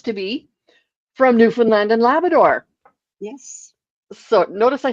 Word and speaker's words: Labrador: And one happens to be from Newfoundland and Labrador. Yes. So notice I said Labrador, not Labrador, and Newfoundland and not Newfoundland or No, it's new.